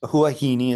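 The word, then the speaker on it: Huahine: we go to w wahini I believe that didn't help me wahini island huahini is pronounced uh and this is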